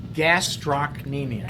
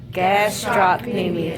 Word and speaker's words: gastrocnemius: gastrocnemius right all right so gastrocnemius can't stop me me so again gasps stop Amy make sure you spell